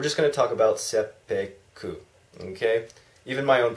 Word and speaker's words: seppuku: suicide that was eventually called sepu okay not seppuku there's no seppuku there's no Harry Carey that's